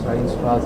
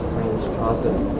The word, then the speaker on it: Steinstrasse: They get stagnated in the ureter like a Steinstrasse Steinstrasse, it's a German term or something. Steinstrasse, that's how you pronounce it.